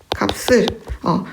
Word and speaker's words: 값을: 네, 겹받침 중에서는 뒤에 것만을 뒤 첫 소리로 옮기라고 했습니다. 그러니까 값을 근데 시옷은 된 소리로 발음한다니까 값을 이렇게 되겠네요.